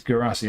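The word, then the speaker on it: Guirassy: So it's Gurassi, I'll say it right now, unless Moose is lying to me.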